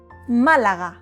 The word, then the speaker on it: Málaga: Just Malaga. No, Malaga. The L is quick, not Malaga, but Malaga. Quick. The G is soft, not ka or ka, but ga. Repeat. Ga. Malaga. Málaga is a beautiful city in the south of Spain.